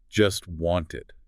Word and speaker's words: just wanted: The source points out that in this particular utterance, the speaker doesn't pronounce the T sound in either word. Not in just and not in wanted. Both of them. So it sounds like just want.